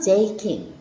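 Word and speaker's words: 税金: 세금을 모르면 오카네라고 해도 상관은 없지만 세금은 우리 N3에 나오는 단어니까 제이킹이라고 발음해요. 새에 타금 붙고 이 붙여서 장음 제이킹.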